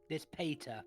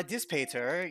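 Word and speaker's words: Dispater: i'm this i guess this patter d-i-s-p-a-t-e-r this peter that's how you say it the lord of death second layer of hell uh diss peter you would not know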